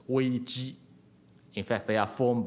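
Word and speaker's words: 危机: the word you know crisis in Chinese is pronounced as Ouija in fact they are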